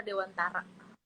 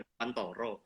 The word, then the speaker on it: Dewantara: Kalau orang Jawa Oh, bacanya Ki Hajar Dewantoro. Kalau orang oh, Indonesia Ki Hajar Dewantara, orang Bali mungkin bacanya Ki Hajar Dewantara.